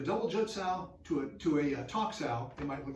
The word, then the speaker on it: Tok Sao: That's called a Tok Sao. And we pronounce it like we would talk, but usually when I write it, it's T-O-K. Tok Sao. And Tok Sao is not this.